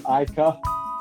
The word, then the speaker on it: Ica: hello hi yeah everyone kind of gets my name wrong a bit it's icar ike i'm so sorry yeah so good how